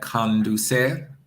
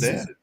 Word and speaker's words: conducir: You have to get your vowels right. Okay. Conducir. Conducir. You're saying con. It's con. Conducir.